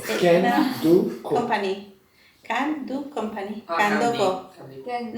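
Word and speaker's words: Candoco: It's Can-do company. Can-do company. Candy. Kandoko. Candy. No, Kandoko. Se escribe Can-do.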